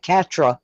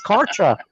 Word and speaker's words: Karcher: said that perfectly karcher every time i try to say it i think the way it's spelled and i want to say something like catra or something and it's kartra jimmy hey jimmy jimmy